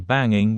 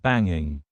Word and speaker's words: banging: to be extra informal instead of saying banging with the eing sound at the end I said banging banging and sometimes we do this for emphasis it also sometimes happens when we talk quickly I've been singing for hours